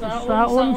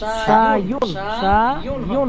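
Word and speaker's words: شايٌ: আসাউ হারুন ও মাউ বারিদুন, চা গরম এবং আপনি পানি বারবার সাউন সাউন বলছেন কেন? সায়ুন হবে। সায়ুন, আচ্ছা সরি, সায়ুন, সিনের শক্ত উচ্চারণ, সায়ুন।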